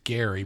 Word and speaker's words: Gerry: they mispronounce it right his name was Gary we pronounced it Jerry Mandarin right I wonder